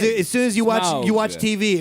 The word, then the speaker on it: Smaug: It's Smaug. Hey, listen. Yeah, you have to overpronounce it for some reason. I don't know why. I always thought it was Smog.